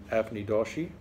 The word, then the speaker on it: Avni Doshi: This is Burnt Sugar by Avni Doshi, because last time I pronounced her name wrong, and everyone out there corrected me.